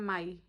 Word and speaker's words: mai: दिसंबर इसका प्रोनाउंसिएशन डिसॉम्बर और DE मतलब हूँ गाइस, मे का होता है माई, MAI। क्योंकि मैं इसकी माई हूँ। अगर आप सब मुझे को रिलेट कर सकते हो तो मैं इसकी माई हूँ।